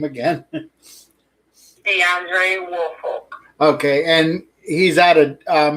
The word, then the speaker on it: Deandre Woolfolk: Today we have Kayla McGuire, the girlfriend of, please pronounce his name again. Deandre Woolfolk.